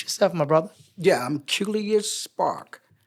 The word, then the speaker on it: Qeulius: Yeah, I'm Qeulius Spark. The first name rhymes with Julius, but it's Qeulius with a Q.